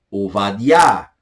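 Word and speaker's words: עובדיה: Nós temos aí o profeta Obadias, português, hebraico, Ovadiah, Ovadiah, Ovadiah, que vem de Obed, né?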